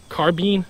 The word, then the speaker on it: carbine: First off though, carbine. Carbine. It's actually pronounced both ways.